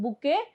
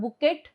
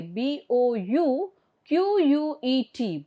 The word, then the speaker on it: bouquet: see the spelling of bouquet it is not bukit it is bouquet b o u q u e t okay okay T is silent over here b o u q